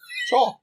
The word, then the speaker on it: Chaw: Case 39 Chaw cha c h a w Chaw pronounce look at how's that pronounced yeah no that's